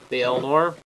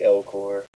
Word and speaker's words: Elcor: I think it's the Elnor. Right? The what? The Elnor from Mass Effect. Oh. Gotcha. They're a race of... They are pronounced the Elcor.